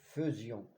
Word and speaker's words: faisions: excursion attention à fusion on écrit a I et on prononce e nous faisions le verbe faire à